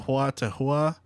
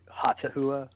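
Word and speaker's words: Hautahua: I've been saying Huatahua, H-A-U-T-A-H-U-A. Yeah, we just say Hatahua. Oh, Hatahua. Oh, okay, yeah. Okay. That's a lot. Yeah, it's Hatahua.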